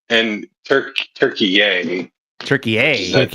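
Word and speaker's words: Türkiye: Turkey A. That's how it's yeah.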